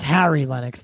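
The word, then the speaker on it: Harry Lennix: You know, and it's Harry Lennox, by the way.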